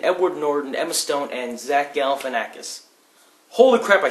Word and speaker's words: Zach Galifianakis: Birdman starring Michael Keaton, Edward Norton, Emma Stone, and Zach Galifianakis.